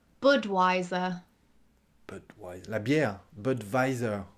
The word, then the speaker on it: Budweiser: voyais ça la bière budweiser bud weiser assez étonnant ça donc vous prononcez le w en anglais et nous on le prononce comme un v en fait budweiser je voudrais une